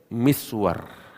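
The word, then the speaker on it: مسور: Dari segi tulisannya, mim, sin, waw, ra. Ya kan? Nah, ada lagi, ya, musawwir. Tulisannya sama, cuman pengucapannya beda.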